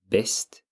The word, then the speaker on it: bäst: And then you have bäst is best. It's pronounced almost identically, I would say.